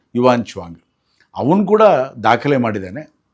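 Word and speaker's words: 玄奘: ಬದಲಾಗುತ್ತೆ ಬದಲಾಗುತ್ತಾ ಇತ್ತು ಕೂಡ ಯುವಾನ್ ಶ್ವಾಂಗ್ ಬಂದ ಸಾವಿರಾರು ವರ್ಷಗಳ ಹಿಂದೆ ನಮಗೆಲ್ಲ ಗೊತ್ತೇ ಇದೆ ಅವನು ಕರ್ನಾಟಕಕ್ಕೂ ಕೂಡ ಬಂದಿದ್ದ ಹಾಗೆ ಅಂತ ಹ್ಯುನ್ಸಾಂಗ್ ಅಂತ ಹೇಳ್ತಾ ಇದ್ರು ಅದು ಆ ಒಂದು ಸರಿಯಾದ ಒಂದು ಉಚ್ಚಾರಣೆ ಯುವಾನ್ ಚುವಾಂಗ್ ಅವನು ಕೂಡ ದಾಖಲೆ ಮಾಡಿದ್ದಾನೆ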